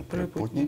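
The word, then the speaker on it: Припутні: Почему «Припутни», правильно? Там уже ударение «Припутни».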